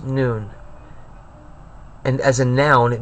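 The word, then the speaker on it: Nun: It's pronounced noon.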